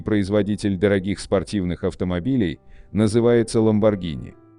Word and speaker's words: Lamborghini: Итальянский производитель дорогих спортивных автомобилей называется Lamborghini. Согласно правилам чтения в итальянском языке, если после G стоит H, то оно читается как G. Однако в России настолько распространено